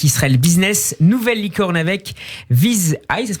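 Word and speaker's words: Viz.ai: Nouvelle licorne avec Viz Eye, ça se prononce comme ça Eric ?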